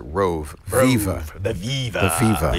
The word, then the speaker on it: ROAV: So this is the ROAV, $50 from Anchor. This is the ROAV, or I think they probably pronounce it Rove.